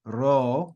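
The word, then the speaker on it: ρ: Then we have ro, which is like an English R, sorry, but it's trilled like Spanish r.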